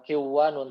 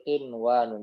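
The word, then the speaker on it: قنوان: Ya, bukan kiwanun tapi qinwanun.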